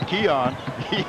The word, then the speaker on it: Keon: number it's seven and we learned how to pronounce his name it's Keon he has been the